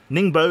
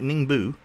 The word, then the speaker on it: Ningbo: who actually knows che Ningbo is pronounced more like Ning boo but mash boo or into one syllable Bor Ningbo okay mash it into one syllable pretty much oh hey we have